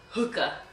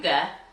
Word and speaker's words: hygge: Like, I looked up the term, and this is what the Oxford Dictionary says how you pronounce it. Hookah. Hookah. Or you can pronounce it Hygge. Hygge.